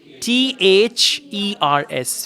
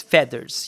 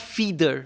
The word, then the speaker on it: feathers: do you spell f-e-a-t-h-e-r-s feathers yeah it's not feeder some people pronounce it as feeder it's feathers okay so uh experience